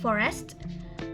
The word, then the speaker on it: forest: For the next we have forest. Forest is a 2 syllables word. So we pronounce forest, not forest, but forest. Directly, forest.